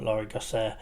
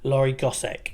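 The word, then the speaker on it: Laure Gossec: day I must ADM that session by um laori gos did I I'm I'm worried I keep pronouncing people's names wrong let me double check lorri gosek sorry um it's been a long week um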